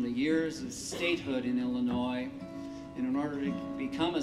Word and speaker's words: Illinois: be to come to illinois and of course they wanted people to learn how to say the name of our state so they spelled it right out in the book e-l-a-n-o-y illinois your chorus oh move